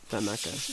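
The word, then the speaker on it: thanaka: Tanaka. Yeah. Okay, so I have been pronouncing it right.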